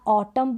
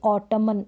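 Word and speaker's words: autumn: में ए रहे हैं इसको हम क्या पढ़ेंगे यहां ऑटम पढ़ेंगे ना की ओटोमन ये जो एन है ये साइलेंट रहेगा दम पढ़ेंगे ना की डायमंड इस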